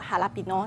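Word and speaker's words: jalapeño: 这款我有见过，叫做 Jalapeno，那很多人会念成 Jalapeno，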